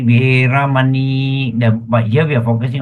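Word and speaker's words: veramaṇī: In the Pali context, you pronounce as Veramani. See, the last I is an I with a dot. You don't say Veramani, Samma, Veramani. No. Veramani. You must drag your I a little bit.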